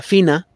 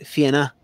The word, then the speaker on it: Fianna: Siempre tengo muchos años diciéndoles que mi tío me enseñó que la pronunciación correcta sería Fina. Y mi primo, ayer que le pregunté, me dijo, no, es Fianna.